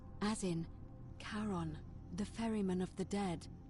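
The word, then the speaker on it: Charon: as you descri Des cribed it only your pronunciation is a little off the name you heard wasn't Karen it was c h a r o n as in karon the Fairman of the Dead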